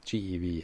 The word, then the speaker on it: GeV: and Tera electron volts so these are usually pronounced Kev me gev and te and so those